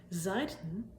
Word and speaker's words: Seiten: Seiten with an EI means sides, but Seiten with an AI means strings, like in guitar strings or harp strings or zither strings. Anyways though, pronunciation's pretty much the same.